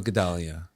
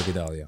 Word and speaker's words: Gedalia: my english so interesting non-jewish people they don't know gedalia but i go by gdalia so i'm never sure